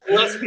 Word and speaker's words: Gillespie: Gillespie. It's Gillespie and then Pie.